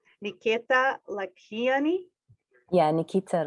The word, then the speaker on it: Lakhiani: Correct me if I'm saying your last name wrong. Nikeeta Lakhiani. Yeah, Nikeeta Lakhiani.